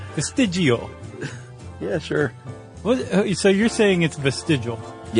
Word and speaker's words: vestigial: You have to say it like you're eating a meatball. Vestigial.